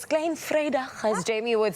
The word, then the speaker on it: Klein Vrydag: It's Klein Vrydag, as Jamie would say.